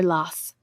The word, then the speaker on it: Law: great things of Monsieur Las. The French pronounced his name in this manner to avoid the ungallic sound, ah.